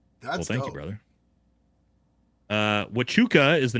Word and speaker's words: Huachuca: Uh Wachuca is the name of the fort pronounced love the job.